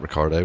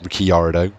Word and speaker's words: Ricciardo: Gutierrez, Ricciardo, not Ricardo, it's Ricciardo. Maldonado. Maldonado, Bottas, Vergner, Bianchi. Well, no, that's how you pronounce it normally.